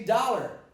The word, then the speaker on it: dollar: I say dog, but I say dollar. I say possible. I say pot. I say blonde. So on many occasions I see an O, but I pronounce an ah.